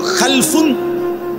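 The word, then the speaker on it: خَلَفٌ: Generation দুই রকম হয় আরবিতে একটা হল খালফুন আরেকটা হল খালাফুন একই শব্দ শুধু উচ্চারণের মধ্যে একটু ভিন্নতা মাঝখানে একটা লাম আছে। এই লামটার মধ্যে যদি সাকিন হয় তাইলে হল খালফুন। আর যদি লামের মধ্যে জবর হয় তাহলে হল খালাফুন।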